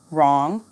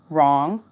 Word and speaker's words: wrong: me thumb lamb climb silent W right wrong wrist repeat after me right wrong wrist silent h hour